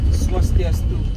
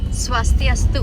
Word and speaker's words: Swastiastu: Just hello, but we say Swastiastu. Swastiastu.